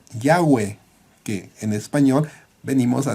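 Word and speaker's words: Yahvé: y hv w h cuya pronunciación se desconoce aunque lo más cercano podría ser ya ve que en español venimos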